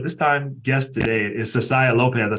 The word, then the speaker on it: Cessiah Lopez: My co-host, but this time guest today is Cessiah Lopez.